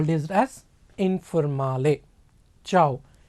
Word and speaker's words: ciao: call this as informally ciao c i a c i a is pronounced as cha like if you know telugu it is cha if it is hindi